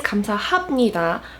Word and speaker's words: 감사합니다: This episode is going to be another pronunciation video explaining why 감사합니다 is pronounced as 합니다 and a bunch of other words that might have confused you in a similar way.